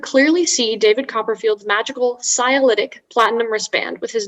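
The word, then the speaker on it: scialytic: shadows audience could clearly see david copperfield's magical cyalytic platinum wristband with his name on it during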